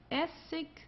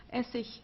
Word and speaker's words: Essig: Also hier haben wir ik, Essig, König. Okay? Also hier am Ende, das wird eher wie ein K ausgesprochen oder manchmal wie ein H, also wie du möchtest. Essig, ja, Essig oder König.